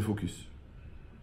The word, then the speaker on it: focus: Ça s'appelle le focus. Mais avec un S, il faut bien prononcer.